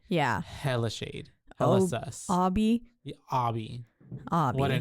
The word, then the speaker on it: Obi: Spelled Obi. Obi, yeah, right? That's why I was like Obi, but it's Obby. But he pronounced it Obby.